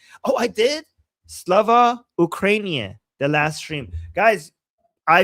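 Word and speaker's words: Слава Україні: I was told that you just have to make it rhyme with Urumia, okay? And I know Urumia, so now I will never forget. Slava Ukrainia rhymes with Urumia.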